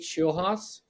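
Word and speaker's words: Scheelhaase: Nate Schulhaus.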